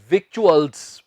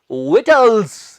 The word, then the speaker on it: victuals: शायद आप कहेंगे victuals, पर नहीं, ये victuals तो नहीं होता, इसका सही उच्चारण है victuals।